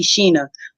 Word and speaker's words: Shana: It's actually Sheena. My mom did it. She made it. She spelled it like Shana, but pronounced the A as an E.